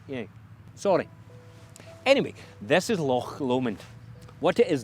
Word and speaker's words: Loch Lomond: Right, okay, I'll tell them how to pronounce it. Yeah, sorry. Anyway, this is Loch Lomond. What it is not is Lake Lomond, and it's certainly not Loch Lomond.